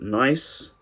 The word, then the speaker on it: Nicce: And it's from a company called Nice, which funny enough they've spelled with two C's, so guess that makes it really unique.